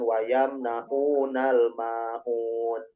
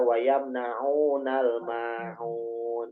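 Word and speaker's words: يمنعون الماعون: Di antaranya dalam pengucapan pelafalan huruf masih ada yang mengatakan wayam naunal maun. Itu sebetulnya bukan huruf hamzah tapi huruf ain. Bukan dari harus dari tengah-tengah tenggorokan, sehingga wayam naunal maun itu sebetulnya.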